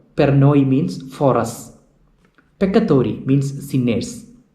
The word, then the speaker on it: peccatori: Peccatori means sinners. Peccatori. Please note the pronunciation peccatori. There are doubling of C. So that is not peccatori, that is peccatori.